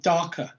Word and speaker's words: Darkr: And basically, there's an app called Darker, which is spelled without the E, Darkr, which I bought a while ago.